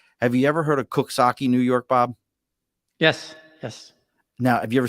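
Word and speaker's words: Coxsackie: Have you ever heard of Cooksaki, New York, Bob? Yes. Now, have you ever seen how Cooksaki is spelled? Yep. Does it sound like it says No. Cooksaki? Nope.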